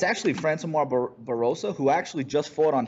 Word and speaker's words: Francimar Barroso: a win inside the octagon against I cannot pronounce this guy's freaking name. It's actually Francimar Barroso, who actually just fought on PFL on Thursday night.